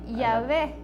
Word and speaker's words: Yahvé: La pronunciación de esa no es como la W que nosotros estamos acostumbrados a pronunciar aquí. Ellos la pronuncian como una U.